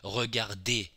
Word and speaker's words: regarder: You have the infinitive regarder, for example, which is spelled ER, and the pronunciation is still E at the end of a syllable, but there is no accent aigu.